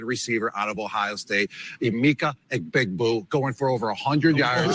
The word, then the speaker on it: Emeka Egbuka: It's pronounced acetaminophen, Gronk. It's Egbuka. Emeka Egbuka.